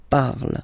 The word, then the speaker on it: parle: again, so remember, and after that you just put the ending e, and then the way to pronounce it is je parle, parle. So remember, we put it, okay, but then we don't really pronounce it, je parle, okay.